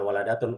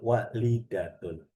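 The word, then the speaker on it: والدة: Kalau anak perempuan, waladun walidatun. Mana walidatun? Hanya dibedakan sama tak marbuto aja. Bukan waladatun, walidatun. Kalau walidatun panjang, nanti jadinya orang tua.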